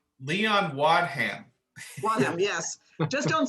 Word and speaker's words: Wadham: Leon Waddum. Think of a wad and a ham, and then run it together. Leon Wadham.